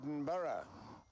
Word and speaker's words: Edinburgh: language they are from Europe they talk about Eden Bor we have a Brazilian couple here how do you pronounce it again edin bgo edin bgo edenburgh people say Edinburgh what's the correct way to say it Edinburough and it seems a couple of the tourists